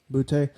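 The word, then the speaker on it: Boutte: how you pronounce Boute.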